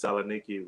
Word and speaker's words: Thessaloniki: Well, they pronounce it Saloniki. We pronounce it Thessaloniki because the THE is silent, but Yeah. we don't know that.